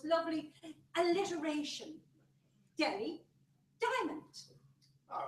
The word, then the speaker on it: Delhi: No, Polly, that H is silent. It is pronounced Delhi.